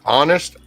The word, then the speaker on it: honest: often 10 10 where honest okay I can give you the age of silent because then you do say honest and it would be an O so just be honest